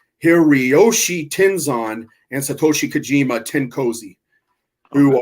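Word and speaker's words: Hiroyoshi Tenzan: is the team of Hiroshi tins here excuse me I'm saying it wrong hiriyoshi tenzon and Satoshi Kojima tenkosi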